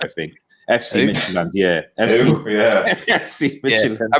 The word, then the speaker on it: Midtjylland: You know, just behind Midtjylland, I think, is how you pronounce it. I think FC Midtjylland, yeah.